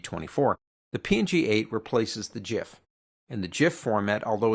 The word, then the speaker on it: GIF: It's not pronounced GIF, it's pronounced GIF, like GIF peanut butter.